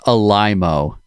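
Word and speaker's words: Alaimo: No, because the meme was, it's pronounced Alimo.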